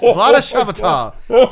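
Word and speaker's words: Vlaada Chvátil: Vlada Shavatal.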